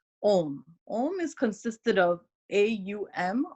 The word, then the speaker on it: Om: So when we say Om, we can extend the A and U, and then we can say 2/3 Ao and Ma 1/3. And then we can pretty much say the Ma as a hum, like you're vibrating that inside your mouth with your lips closed.